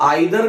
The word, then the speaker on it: either: देखिए इसको आइदर भी कहता है, ईदर भी कहता है, नाइदर भी कहता है, नीदर भी कहता है, जो प्रोनाउंसिएशन और डिफरेंट वेसली जो प्रोनाउंसिएशन होता है।